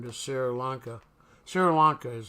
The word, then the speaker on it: Sri Lanka: there's a seal on which is now Sarah linka yeah I think that's how you pronounce it seal on back in 1944 which they changed their name to Sri Lanka Sri Lanka is how you pronounce